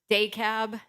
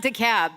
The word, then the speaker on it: DeKalb: I just went to how do you say it day cab it's not DeKalb they don't pronounce it that way that's how Atlanta pronounces it that's not how NIU